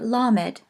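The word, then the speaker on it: למד: word the next is the Hebrew letter lammott and it is pronounced like our L notice it is really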